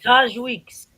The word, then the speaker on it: Taj Weekes: to pronounce it i'm like t-a-t-a-a can you pronounce it for me please okay charge weeks that weeks is that your real name oh